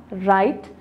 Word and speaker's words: write: जैसे कि नाइफ में अगर हम पढ़ रहे हैं तो K silent है, thumb B silent है हमारे पास, write हमारे पास W silent है, talk ठीक है यहाँ